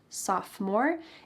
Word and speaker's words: sophomore: Grade you're a sophomore notice that the O in the middle of this word is silent sophomore if you're in 11th